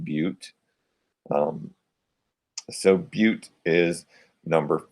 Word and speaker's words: but: If you look at BUT, it's pronounced butte.